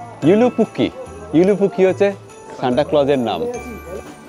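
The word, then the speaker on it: Joulupukki: এখানে দেখুন লেখা রয়েছে জে ও ইউ এল ইউ পি ইউ কে কে আই আসলে যে এর উচ্চারণটা ইউ এর মত হবে তার মানে ইউলুপুকি ইউপুকি হচ্ছে সান্টা ক্লজের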